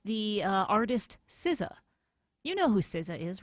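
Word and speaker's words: SZA: Deborah, this is actually I'm kind of surprised that this word is the most mispronounced one. It's a proper name, like a pronoun, and it's the uh artist Siza.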